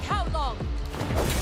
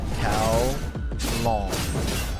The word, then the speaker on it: Kowloong: This is the will of Kowloong! Kowloong. Kowloong. Oh, okay. There we go. That's easy to pronounce. Brain just had to like think cow and long as in measurement.